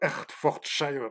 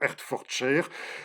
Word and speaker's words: Hertfordshire: une région qui s'appelle voilà, j'aimerais bien le prononcer correctement, le Hertfordshire. Oui, le Hertfordshire.